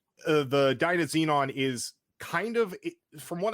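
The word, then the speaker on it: DynaZenon: Dyna Xenon.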